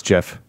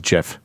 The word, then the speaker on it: GIF: you've gone full circle I'm pretty sure it's Jeff is what is where I stand cuz that's what the that's the original compus serve uh CompuServe original pronunciation was JF yeah there you go